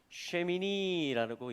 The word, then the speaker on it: שמיני: 이게 이제 쉬몬의 8이라는 것인데 8 하면 여덟째 하면 자 여덟째 하면 여기 이렇게 요드가 2개 붙으면 쉐미니라고 읽혀집니다.